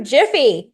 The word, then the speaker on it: GIPHY: Some of you might pronounce that GIPHY. It's GIPHY.